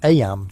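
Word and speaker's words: Eyam: Aam, you know, is pronounced just like em.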